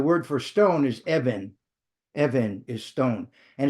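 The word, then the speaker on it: אבן: Evan is stone. And it's the same Hebrew letter. Sometimes it's pronounced as a B, sometimes as a V.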